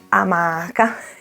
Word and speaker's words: amaca: Il viaggio in amaca comincia, ti sei iscritto al canale? Il primo dubbio da affrontare è la pronuncia, quindi per scrupolo sono andata a controllare. Amaca, come mollica, rubrica, amaca.